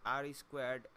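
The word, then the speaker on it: R²: The standard way to answer the first of the questions is called R2. Pronounced R-squared, R2 is often described as the fraction of the variance that is accounted for by the model.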